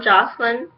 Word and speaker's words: Jocelyn: He was apologizing to Clary, saying, "I'm so sorry," and he apologized to Mom Jocelyn. That's how you pronounce her name.